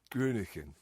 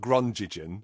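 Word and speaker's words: Groningen: how you pronounce it that's that's how you pronounce it because I made people say it several times to me grunin grunin not Gren which is what I've been saying before uh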